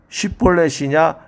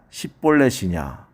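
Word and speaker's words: 쉽볼렛: 마침 요단강 나루트의 작은 시냇물이란 말 쉿보렛을 에브라임 사람은 발음이 안 돼서 십볼렛이라고 합니다. 그래서 죽은 에브라임 사람이 자그만치 4만 2천 명입니다. 쉿볼렛이냐 십볼렛이냐.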